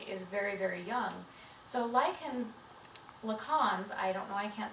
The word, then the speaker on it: Lacan: Absolutely, and I think I'd rather approach this from a Lacan's perspective. Lacan's. What is Lacan's theory? Oh, good job pronouncing that name correctly.